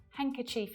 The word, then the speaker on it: handkerchief: Handkerchief is another.